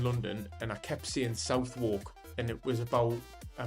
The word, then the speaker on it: Southwark: and I kept seeing Southwark, and it was about a month of living down there, and someone said, "It's Southwark. You need to say it Southwark." It's one of the boroughs in London, and honestly, I felt stupid.